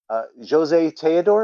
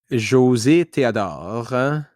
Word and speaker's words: José Théodore: Jose Teodor, am I pronouncing that? José Théodore.